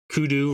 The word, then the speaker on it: kudu: it to damage me kudu rhymes with voodoo oh we're gonna cycle